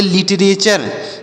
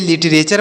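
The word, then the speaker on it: literature: मात्रा का उच्चारण और टी यू से हम पढ़ेंगे च टी से ट नहीं पढ़ेंगे च पढ़ेंगे आर ई से र उसे पढ़ेंगे लिटरेचर इसे क्या पढ़ेंगे प्यारे साथियों इसे लिटरेचर पढ़ेंगे लिटरेचर मतलब क्या बोल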